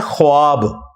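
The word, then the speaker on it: خواب: लफ्ज लिखने में है ख्वाब ख वा अलिफ बा लेकिन पढ़ने में यह ख्वाब है वाओ साइलेंट हो जाता है ख्वाब पढ़ा जाता है यह लफ्ज़ उर्दू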